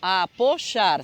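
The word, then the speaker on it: apoyar: A gente fala esse apochar porque essa palavra se escreve com Y no meio, né? Então, apochar, você vê que esse Y tem esse som chiado, tem esse som de J, outro tipo de fonema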